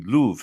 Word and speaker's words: prove: So prove actually would be Louvre.